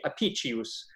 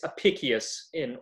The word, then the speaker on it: Apicius: So, you know, in liturgical Latin, it would be apicius, and it's apicius apicius in classical Latin.